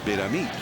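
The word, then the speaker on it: Betemit: face to face and he told us it's B A me with an accent on the final syll he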